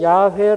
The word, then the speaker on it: 야훼: 얻습니다 많은 다름이 없습니다 그저 우리가 야훼 라고 그렇게 발음 하자 라고 하는 것이죠 뜻도 없습니다